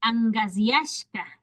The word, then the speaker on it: angasyashka: Angasyashka, angasyashka. Ahí clarito tenemos la G, pronunciando con la G.